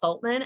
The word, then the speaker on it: Soltman: So you can simply follow that's spelled with 2 L's, and my last name is Soltman, S like Sam, Oltman.